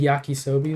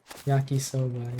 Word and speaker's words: yakisoba: game where you made yakisobe though. That was so fun. Yakisobe? Yak. I don't remember. how to pronounce it. Yakisoba? Yakisoba, yeah.